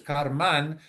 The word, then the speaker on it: karman: is referred to as karma and actually the correct pronunciation is karman with an n attached to it.